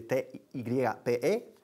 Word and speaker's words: type: Escribe T-Y-P-E, type, pero se pronuncia type, con una P fuerte.